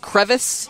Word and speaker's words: Crevasse: Crevasse. That's how some people pronounce it, Crevice. Crevice. That's kind of how I've always heard it pronounced. But then on the flight over here, I watched an episode of that show with that guy, Bear Grylls calls them crevasses.